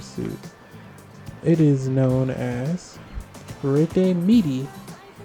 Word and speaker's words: Midi: suit the ssr suit it is known as meaty it's spelled f-i-e-r-t-e-m-i-d-i this is a suit for lobelia